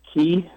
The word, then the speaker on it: ki: Like ki, like in martial arts, you have something called ki, like in Oh, I know it is chi.